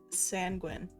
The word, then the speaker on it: sanguine: Alright, now after asking Alex says it's pronounced sanguine.